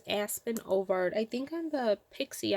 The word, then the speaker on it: Aspen Ovard: I think I said her name wrong earlier. On the, it's Aspen Ovard.